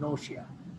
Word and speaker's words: nausea: এই ওয়ার্ডটার উচ্চারণ হচ্ছে নৌশিয়া।